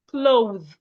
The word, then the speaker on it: clothe: There's a difference between cloth and clothe. Cloth is C-L-O-T-H. Clothe is C-L-O-T-H-E.